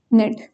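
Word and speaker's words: knit: नेट, KINIT, नेट, नेट यानी बोलना। आप देख रहे होंगे इंग्लिश के जो वर्ड्स होते हैं मैक्सिमम उनमें के साइलेंट रहता है, तो नेक्स्ट वर्ड की प्रोनाउंसिएशन होती है।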